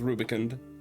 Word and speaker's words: rubicund: Okay, it is Rubicund. All right. I just mispronounced it.